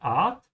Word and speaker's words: Art: And also be careful with the sound of the A here. It doesn't sound like in English. In English, the A is a bit closed. You say Ort, yeah.